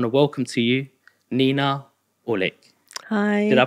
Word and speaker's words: Aouilk: I want to welcome to you, Nina Aouilk. Hi. Did I pronounce that right? You pronounce it the Indian way. I just say Aouilk, yeah.